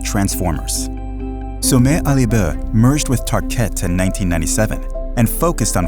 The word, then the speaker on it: Tarkett: In the 1950s, they launched a new floor covering and vinyl called Tarkett. The name was chosen to rhyme with parkett, the Swedish word for parquet.